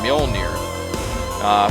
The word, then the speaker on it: Mjolnir: The campaign is the Mjolnir response, and the only reason I know how to pronounce that is that's Thor's hammer, Mjolnir.